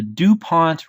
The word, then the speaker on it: DuPont: is something called the DuPont ratio analysis framework hey is this the same the point that makes the model airplane blue a it is pronounced dupon it is named after